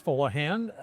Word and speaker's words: Fuleihan: We can start with, you pronounced my name and the way it is pronounced in Lebanon. And we're here, it's Fuleihan.